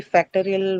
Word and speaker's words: factorial: So factor is the word that you have, and the stress uh, is on the second syllable, of course, and then that gets retained in this one anyway. So factorial.